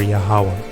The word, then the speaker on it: YAHAWAH: And these are the Hebrew letters right here for Yahawah. This is YAHAWAH. That's how you would pronounce it. Well, you would pronounce it Yahawa, because that last letter